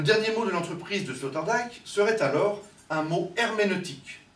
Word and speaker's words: Sloterdijk: Pourquoi prononce-t-on le nom de Sloterdijk Sloterdijk? Pourquoi? Moi, j'ai décidé de ne pas le prononcer à la française. Parce qu'en allemand, ça se dit Sloterdijk. Je sais pas. Non? Je sais pas. Il est hollandais.